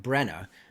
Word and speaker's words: Brenna: She speaks up, and I've been saying it wrong. Brenna, Brenna, Brenna.